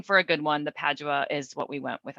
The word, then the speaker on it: Padua: Yeah, Padua. Yeah, that's how I Padua.